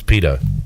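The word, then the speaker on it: Pidto: just kept it but it's p-i-d-t-o Pitta Pinto pronounce Pito speaking of SportsCenter and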